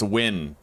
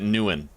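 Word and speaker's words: Nguyen: Oh, the name is pronounced win. The ng is silent and the u is short like sun. So, aen. Wait, some may also pronounce it newen.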